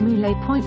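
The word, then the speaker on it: Mouille Point: Seaward from Green Point is the area known as Moulay Point, pronounced M-O-L-E, where the local lighthouse is situated.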